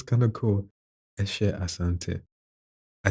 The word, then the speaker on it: Asante: Because I know people who don't really exactly stick to the Ghanaian pronunciation when they do have an evidently Ghanaian sounding name. So I say Asante, Asante Hine, or yeah, yeah.